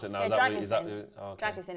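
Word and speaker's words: Drăgușin: Have you worked out how to pronounce it now? Yeah, Dragusin.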